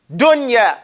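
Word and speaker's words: دنيا: in the same word if it comes in the same word there is no wonder you pronounce that noon like if ha clearly and independent you don't mix it okay you don't mix the sound they give two examples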